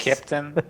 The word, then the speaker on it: Keptn: Keptn, it's the German phonetic for a captain. I'm from Austria, so the whole idea came out of Austria. That's why that's the way it's pronounced.